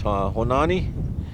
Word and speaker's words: Honanie: My last name is Honanie. It's spelled Honanie, and it refers to animal, a badger.